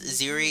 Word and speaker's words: Ziri: You know, the fact of the matter is, Ziri is an excellent way to get around not calling it Siri, because in pronunciation you could still say Siri, Thank you, Histy.